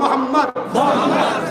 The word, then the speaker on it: মুহাম্মদ: খেয়াল করতে কোন নবীর নাম নিলে দুই ঠোঁটে ঠোঁট ঠেকছে, বলুন মুহাম্মদ। আমার নবীর নাম চুমা না দিয়ে পৃথিবীর কেউ নিতে পারবে এমন মায়ের লাল আছে কি?